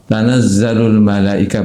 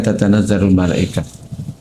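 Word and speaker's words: تنزل الملائكة: ee qiraat juga sama membacanya tanazzalul malaikah bukan tatanazarul malaikah.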